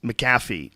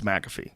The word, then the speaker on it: McAfee: MC f e mcaf so I I thought it was maffy all this all these years I really I called it maffy over and over again it's McAfee sorry about that yeah